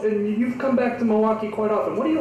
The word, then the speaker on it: Milwaukee: that because you do it's not milwaukee is it it's milwaukee yeah there you go and